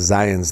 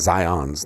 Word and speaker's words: Zion: Just so you guys know, it is Zion's National Park, not Zion's National Park.